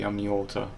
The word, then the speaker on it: Amniota: And of course, we are not including, I presume we're not including others because they are not part of the Amniota. Am I pronouncing it right?